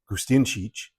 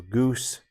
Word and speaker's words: Gustinich: Actually, I don't know if I've ever shared how to correctly pronounce my name, but it is Gustinich, which is very difficult to pronounce. It is like this. So, Guineich uh all together, but you don't have to worry about that.